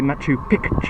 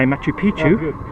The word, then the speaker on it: Machu Picchu: be careful though - you've got to say Matt you pick - as in Pikachu otherwise you're saying it wrong and if you say Machu Picchu the actually saying old pimps that true picture means old mountain you've got my peach